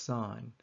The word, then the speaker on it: sin: The opposite side over the hypotenuse is known as the sign ratio abbreviated to sin n but still pronounced sign.